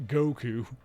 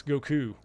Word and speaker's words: Goku: from my head for Goku is wrong it's not Goku it's Goku the this there's more emphasis on the second syllable it's Son Goku I'm